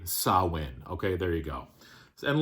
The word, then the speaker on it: Samhain: and actually for anybody who wants me to pronounce it correctly sawin okay there you go and last but not